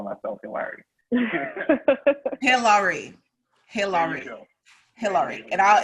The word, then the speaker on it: Hilary: me hillary and hillary it has the same name it's just pronounced with the accent the nigerian accent hillary so that way